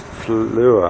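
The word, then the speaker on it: Saint-Flour: Fleur, I think it is. Spelt flower, pronounced Fleur.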